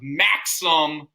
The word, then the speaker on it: Maxam: It's spelled M-A-X-A-M. It's actually a character. Okay. It's the first appearance of Maxim with an A-M, who is a time traveler